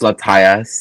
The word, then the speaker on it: Latias: Is that canonically how you say it? Latios and Latias? Yeah. Yes.